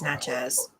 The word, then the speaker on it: Natchez: so you're not pronouncing it right. It's Natchez.